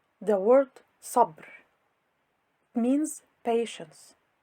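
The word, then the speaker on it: صبر: The word Sabr. means patience. It is pronounced sabr, not sabr.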